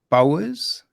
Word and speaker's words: Bowhers: So I am here today with Daniel Bowers. Is that how you pronounce it? Bowers? Yes, splendid. Yeah.